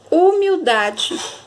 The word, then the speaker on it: humildade: é mais forte tá a sílaba tônica vai estar na penúltima a palavra pétala três